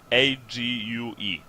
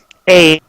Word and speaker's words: ague: Ague. Oh, egg. Ague. As in Is that? egg. As in, well, if in English, if you pronounce PLAGUE as plague, then AGUE would be egg.